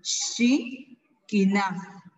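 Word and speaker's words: xikin: 2, pero su pronunciación, recordemos que la X se pronuncia como sh, ¿verdad? Entonces, oreja se pronuncia shin, shi, kina. Escuche, oreja se pronuncia con sh, oreja, shi, kina.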